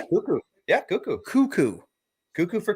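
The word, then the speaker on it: Koekkoek: That's how you pronounce his name? Actually? Yeah, Cuckoo.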